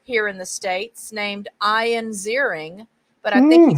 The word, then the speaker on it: Ian: It's certainly Ian. It can be spelt differently. Some people spell it I-A-N as I do, but it can be spelled I-A-I-N.